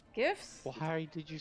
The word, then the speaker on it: GIF: for having pronounced it GIFs. Gifts? Why did you say GIF? It's a GIF. It doesn't start with a J, it starts with a G. G can be pronounced soft and hard.